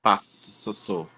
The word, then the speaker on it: passo: A gente não fala passo nem passou, é passo. Tem dois s, mas só traz um som, né?